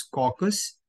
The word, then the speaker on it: caucus: Considering the pronunciation तो इसका pronunciation is कॉकस. सो आपको CAUKUS अपने माइंड में लेके चलना है.